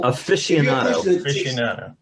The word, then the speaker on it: aficionado: If you're an aficionado, one of these days I'm going to say that right. How do you say that? Aficionado.